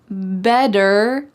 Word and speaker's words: better: Better late than never. Listen to that word, better. Is there a D in this word better? Are we talking about a bed that you go to sleep in?